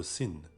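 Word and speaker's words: س: La lettre Sin se prononce comme un S.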